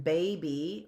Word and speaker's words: baby: spell words by sound words that end in a y they can sound like a long e as in baby right or in fact